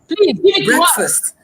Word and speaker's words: breakfast: because okay if you if you take both words apart the first part is pronounced brick second is pronounced fast but when they come together it becomes breakfast so someone who knows